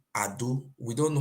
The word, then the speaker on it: Edo: our land is called it's not Edo boy it's called Ado we don't know how